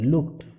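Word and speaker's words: looked: হি লুকড অ্যাট স্বামী, টো উচ্চারণ হবে লুকড, কারণ কে এর পরে ইডি থাকলে টো উচ্চারণ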